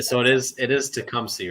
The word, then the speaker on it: Tecumseh: one where the one town that he butchered was Tecumseh he said to kumish and I can't I